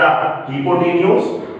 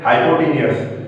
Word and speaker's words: hypotenuse: So this is the hypotenuse, that is the correct pronunciation. Some students pronounce it hypotenuse. It is a wrong pronunciation.